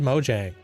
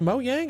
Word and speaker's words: Mojang: say I always said Mojang and I was like then I was like, is it pronounced Moyang or Mojang? I was like you people were like Mo Yang. That's how they would pronounce it.